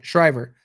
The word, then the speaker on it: Shriver: Shriver.